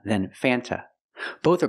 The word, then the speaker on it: Fanta: Sprite Fanta root beer in America we do not pronounce the word Fanta it is pronounced f f use the short a sound before the N it changes a little bit it becomes a little more nasal in your nose f f f f